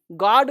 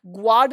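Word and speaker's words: guard: जी यू नहीं है, GARD, गार्ड पढ़ो। है तो GU लिखा हुआ, ग्वार्ड नहीं पढ़ेंगे, गार्ड पढ़ेंगे, गार्ड गार्ड।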